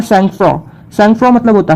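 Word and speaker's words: sang-froid: फिर आता है सैंगफ्रॉ. सैंगफ्रॉ मतलब होता है, अब कई लोग इसको प्रोनाउंशिएट करते हैं सैंगफ्रॉइड, तो सैंगफ्रॉइड नहीं इसका प्रोनाउंसिएशन है, इसका राइट प्रोनाउंसिएशन है सैंगफ्रॉ, क्योंकि एक फ्रेंच वर्ड होता है.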